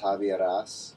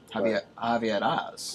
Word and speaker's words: Javieras: But my name actually, it's Greek, mm-hmm. but it does sound Spanish to a lot of people, actually. Okay. So, but it's actually pronounced Javieras. Javieras.